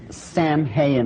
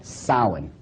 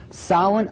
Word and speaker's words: Samhain: Now, when you look at the name, it looks as if it's saying Samhain or something like that. No. This is properly pronounced in the ancient Gaelic as Samhain. Samhain, according to occult tradition, was the Lord of the Dead.